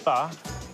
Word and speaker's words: pho: Pho, or it's actually pronounced pho, is a Vietnamese word.